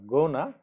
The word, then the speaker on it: gonna: So you see the pronunciation, it's not gonna, it's gonna.